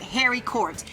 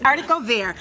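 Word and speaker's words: haricot: them in the grocery store and they they pronounce it Harry court it's not harod be but that's how most of us pronounced it it's artico and so I simply steamed those squeezed some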